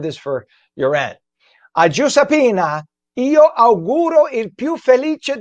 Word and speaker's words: Giuseppina: In Italian, it's pronounced Giuseppina Malace.